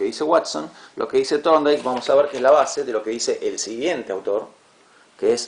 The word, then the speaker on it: Thorndike: Insisto, la correcta pronunciación sería, la TH en inglés se pronuncia como una especie de Z, medio pisada, medio fuerte. Thorndike.